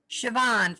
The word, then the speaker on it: Siobhan: Siobhan, like Chevron with no R.